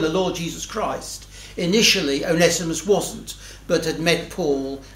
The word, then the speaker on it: Onesimus: We've got Onesimus, and those who have done Greek will tell me that, in fact, it should be pronounced Onesimus, but I shall continue with Onesimus, as I think that's more familiar to our ears.